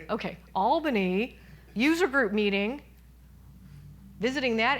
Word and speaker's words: Albany: Albany? Okay, Albany user group meeting, visiting that area, and another